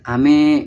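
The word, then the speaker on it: 飴: Seperti pelafalan ame, yaitu ame yaitu untuk hujan, sedangkan untuk permen itu me-nya itu lebih ke tinggi, ame gitu.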